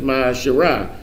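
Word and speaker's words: מעשר: You can find this in Numbers 18:21 and Malachi 3:8 and 10, means tenth in the Hebrew and is pronounced Ma'asherah.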